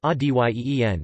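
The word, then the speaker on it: один: best place to start one equals odin pronounced ody ee n DN 2 equals devon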